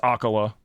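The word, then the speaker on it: Akkala: I'm doing shrines and all that Have you gotten to Akali yet to hear her? Honestly. Yeah. No, it's it's Akala. It's pronounc apparently it's pronounced Akala.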